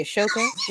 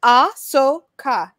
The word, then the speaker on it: Ahsoka: If you say Ashoka one more time, it's how I pronounce it. That's my girl. I need the Ahsoka to be it.